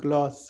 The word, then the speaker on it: GLACE: why it is called gloss so he said yeah Randy is from France so he used the pronunciation from the France so got it yeah